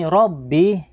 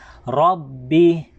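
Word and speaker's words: رَبِّ: Sa may Rabbi, ito po yung ra, ay kinakailangan din po nating bigkasin ng makapal ang ra. Okay, kailangan ra, hindi ra. Okay, so babasahin natin ng Rabbi, hindi po Rabbi.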